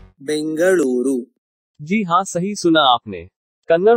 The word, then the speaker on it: Bengaluru: Tiếng Bengaluru ji han nghe bạn nói đúng đấy, nó được phát âm như thế này trong tiếng Kannada.